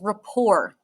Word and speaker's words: rapport: a noun which is Rapport not report Rapport T is silent um and this is